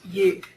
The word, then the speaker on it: Uth: UT U but it's it's actually pronounced youth now this is a